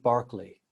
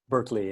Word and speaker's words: Berkeley: and a poet called george barkley in the british berkeley in in the american pronunciation and he one of